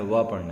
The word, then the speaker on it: वपुः: देखेंगे, सिंहासने मणि मयूख शिखा विचित्रे विचित्रे विभ्राजते विभ्राजते, ब नहीं पढ़ना है, व पढ़ना है, व विभ्राजते तव वपुः वपुः, यहाँ पे ब का उच्चारण न करके वजन, वपुः कनकावदातम कनकावदातम बिंबम